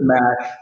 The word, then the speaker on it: MaC: Is it MAC or is it Mac Venture? How do you say it? It's Mac. It's Mac.